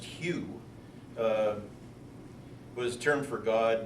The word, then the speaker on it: Hu: But Hu, pronounced Hugh, was a term for